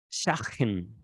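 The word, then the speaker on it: Schadchen: es hebrea, Sdagen, Sdagen, no sé cómo se pronuncia la J en el hebreo, S-C-H-A-D de dedo, J-E-N, Shagen, Shagen, bueno, casamentero judío, ¿vale?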